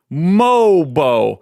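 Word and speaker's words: Mogbo: Mobo. It's almost like there's not a G in the pronunciation of his last name.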